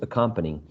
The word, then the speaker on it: accompanying: it's a company exactly which symbol is the stress one the second the second one how many syllables can you find in this word four four perfect excellent great answers accompanying now in the second